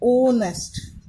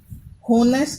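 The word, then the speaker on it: honest: बट ऑनेस्ट का ये है कि एच साइलेंट हो जाता है. एच साइलेंट हो जाएगा तो हम रीड क्या करते हैं? ओनेस्ट. होनेस्ट नहीं करते, ओनेस्ट करते. जो साउंड इसका क्या आ रहा है?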